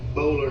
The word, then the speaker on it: Boulware: that my friend Barrett Bowler has. That's who he works for. Barrett Bowler? Yeah, Junior. Yeah, I spell It's Boulware is how it looks. B-O-U-L-W-A-R-E. Ken, Charles Bowler, born?